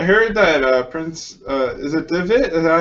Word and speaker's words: Devitt: I heard that Prince, is it Devitt? Is that how you pronounce it? Yeah, Prince Devitt, yeah.